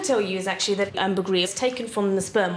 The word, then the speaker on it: ambergris: Ambergris, have I been saying it correctly? Ambergris, most people in Britain would call it ambergris.